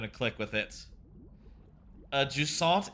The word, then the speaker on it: Jusant: Uh juant is a French nautical ter term for receding tide. Okay. So, I was saying it right by saying it like all Frenchy and stuff to saw.